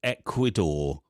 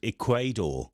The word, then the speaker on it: Ecuador: i don't know also she'd never seen the word ecuador like written down so when she pronounced it it was equador equator that's good so yeah